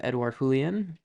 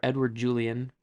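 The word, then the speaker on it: Edouard Julien: As for the Twins, they have Edouard Julian, or Edward Julian, because it's not pronounced how I think it is.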